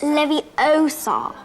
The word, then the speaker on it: Wingardium Leviosa: someone's eye out besides you're saying it wrong it's leviosa not leviosa you doing then if